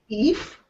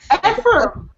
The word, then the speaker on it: Ephraim: kind of peculiar, like the star of our story is Ephraim, and he keeps calling it Eve. It's like Eve? Yeah, so, how do you pronounce that? Because I'm like F, but... Ephraim. And it's like Eve? Why does he call him Eve?